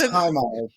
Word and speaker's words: HIMARS: It's HIMARS. HIMARS. Okay. It just gets funnier and funnier the more I think about it. So this is HIMARS, which stands for, and I looked this up, High Mobility Advanced Rocket System.